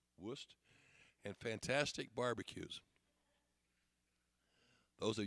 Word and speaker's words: Wurst: It's well known for its German sausage, Wurst, pronounced Wurst, and fantastic barbecues.